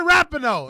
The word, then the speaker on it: Rapinoe: Rapinoe, that's how you say her name? Megan Rapinoe.